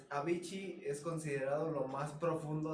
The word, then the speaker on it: Avicii: sabíamos la historia de la princesa Diana, de Avicii y de este güey. A mí sí. ¿Cómo se dice? Es que no sé. Avicii.